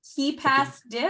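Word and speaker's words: KeePassDiff: In my mind, it separated it into keep first, and that's not how we want to pronounce that.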